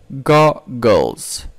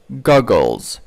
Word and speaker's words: goggles: Goggles. Goggles. It's kind of z sound.